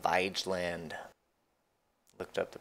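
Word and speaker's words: Vigeland: out the sculpture park in Oslo it's called vyj land looked up the pronunciation on that a lot of sculptures of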